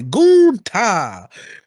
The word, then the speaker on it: Gunther: Sometimes it's Gunther. Sometimes they try to be, a little spicy and say Gunta.